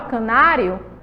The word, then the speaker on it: canário: Aí, ó, canário, ela é uma proparoxítona, certo? Por que uma proparoxítona? Porque aí é a terceira sílaba, certo? De canário.